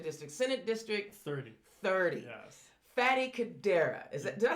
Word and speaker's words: Fady: And I said, listen, it is Fady, and it rhymes with daddy.